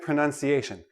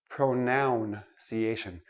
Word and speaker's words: pronunciation: so we're looking at pronunciation let me start with this word pro pronunciation not pronounciation it is not a pronoun a pronoun is i